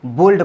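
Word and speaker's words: bold: देखिए यहाँ पर भी एल के बाद डी है, लेकिन इसको बोल्ड पढ़ेंगे। इस वाले में एल का उच्चारण किया जा रहा है।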